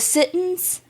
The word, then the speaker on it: Sitton: The Sittons, and it's Sitton. So I've seen, again, different pronunciations about that. But from what I gathered, that's the correct.